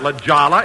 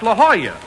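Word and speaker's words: La Jolla: place jack that's not Lala it's La Hoya that's how you pronounce it in Spanish oh oh I didn't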